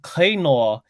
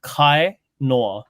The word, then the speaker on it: Kainoa: But if you say Kainoa, so listen to this. Kainoa and Kainoa. Kainoa is like fishes. Yeah, it's like waste. So if you just say pronunciation different, it's gonna mean something totally different.